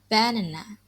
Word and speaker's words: banana: So here's example in the word banana. So you can hear that the first syllable ba is a strong or stressed syllable, while the second syllable and the third syllable is weak or unstressed.